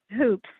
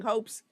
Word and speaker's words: Hoops: mispronounced your last name Hoops Leah Hoops Hoops okay I was saying hopes but we all have